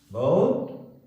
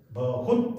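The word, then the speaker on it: बहुत: பாருங்க பைல் காலமான file பௌத் ரொம்ப உப்காரி இந்த படத்தில் படித்தோம் உபயோகம் உள்ள உப்கார்ன உபயோகம் உப்காரின உபயோகம் உள்ள ஜான்வர் ஹே ஒரு விலங்கு ஒரு மிருகம் பை பௌத் பஹுத் அப்படி சொல்லலாம் பௌத் அந்த ஹூ சவுண்ட் ரொம்ப குறைஞ்சிடும் நம்ம நிறைய ஹிந்தியில் சொல்லியிருக்கோம்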